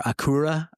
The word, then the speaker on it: Acura: In 1986, Honda did something unprecedented when it launched Acura, or Acura, as it should be pronounced, Americans.